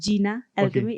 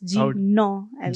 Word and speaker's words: Jina Alchemy: First of all, it's not pronounced Jina Alchemy. It's Jino Alchemy.